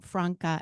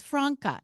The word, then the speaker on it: Franca: I've been saying Franca and been corrected to say that it's Franca. And she told me just before now that it's Franca, everyone.